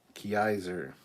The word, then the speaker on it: Kaiser: Gary says, hey, Cap, for future reference, my last name is pronounced Kaiser. I, not E.